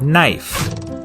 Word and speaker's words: knife: is in the word knife in Middle English it was pronounced knif but after The Vowel Shift the K became silent and the E turned